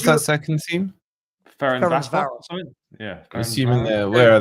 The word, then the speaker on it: Ferencváros: How do you pronounce that second team? Ferencváros.